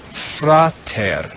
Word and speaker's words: frater: in the orange row we find the word frater fra it's two syllables frater means brother the second word in